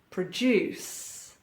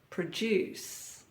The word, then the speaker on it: produce: 90s good times now you may have noticed a pattern here stress or emphasis on the second syllable uh and we have a verb produce produce contest contest Converse Converse